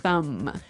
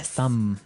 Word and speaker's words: thumb: so the pronunciation here do you say the b at the end of this word no i actually only pronounce the m the thumb the thumb yeah you